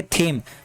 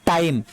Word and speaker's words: thyme: अगला है THYME, आप मुझे पता है इसको आप पढ़ेंगे थीम, बट ये थीम नहीं है, इसको इसे हम पढ़ते हैं टाइम। H वर्ड साइलेंट होगा और TYME क्या होगा, टाइम।